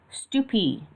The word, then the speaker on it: stupy: Then learn "stupy" and "skory," which are also accented on the ultimate and have a meaning equivalent to "poshoy."